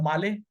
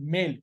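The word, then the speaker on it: Malé: ठीक है कैपिटल है माले जो मालदीव्स की बात कर रहे हैं माले स्पेलिंग है एम ए एल ई मेल spelling मेल है पर प्रोनंसिएशन माले अनन ने बकुल सही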